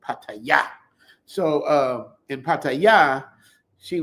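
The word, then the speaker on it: Pattaya: You guys, I know we say paya, but you're supposed to say, you got to hit the last syllable, paya.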